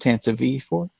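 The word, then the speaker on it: Tantive IV: I'll flex some Star Wars knowledge and tell you that it's pronounced Tanta V4.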